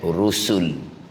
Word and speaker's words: رسل: Dia eja ra sin lam, bacanya dengan rusul.